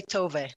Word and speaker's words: Tove: please on to you yes you say tove yeah like like a